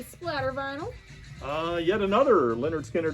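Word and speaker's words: Lynyrd Skynyrd: on super pretty splatter vinyl uh yet another leonard skinner pronounced leonard steiner the the full album performed live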